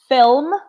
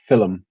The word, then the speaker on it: film: this word mmm and I would say film Kaelyn and I would say filum ah it's a dusted there's an extra syllable I don't say so there you are